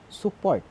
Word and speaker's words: support: So we pronounce this word as a above, support, above, support. So as you notice, we're putting stress in the second syllable of the word.